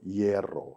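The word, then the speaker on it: hierro: 이에로. 한국에는 R을 2번 반복하는 발음이 없어요.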